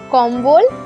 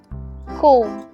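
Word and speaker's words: comb: নয় ওভেন চিরুনি কোম কোম দেখো বি সাইলেন্ট আছে কোম ওকে চশমা স্পেক্টটাকেলস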